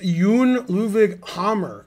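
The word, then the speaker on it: Jon Ludvig Hammer: to know what's it homer's name was actually pronounced yoon luvig hammer not hammer so yeah it's not as funny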